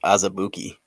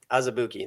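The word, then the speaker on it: Azubuike: Looks like it's pronounced Azabuki. Azubuki, thank you.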